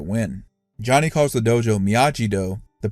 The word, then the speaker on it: Miyagi-Do: Johnny calls the dojo Miyagi-Do, the pronunciation that Daniel had to correct the announcer on in the finals of the 1984 All Valley.